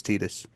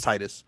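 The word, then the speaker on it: Tidus: him from the game confirm that it is Tetus, which is annoying. I will I will say Tit when I read it, I I read it as Titus.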